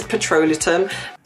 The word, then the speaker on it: petrolatum: So for the ingredients, the first ingredient is petrolatum. And as I've mentioned before, I'm not pronouncing it incorrectly. It is petrolatum.